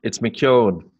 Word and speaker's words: McKeown: It's McKeown, but don't worry too much about it.